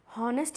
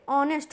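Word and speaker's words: honest: हॉनेस्ट नहीं होता, एच इसमें साइलेंट होता है, ओके, ऑनेस्ट होता है, ओ से इसकी शुरुआत होती है, मतलब साउंड इसका ओ से स्टार्ट होता है।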